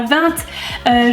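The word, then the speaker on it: vingt: Par exemple, je prononce aussi le T à 20, je dis aussi soit toujours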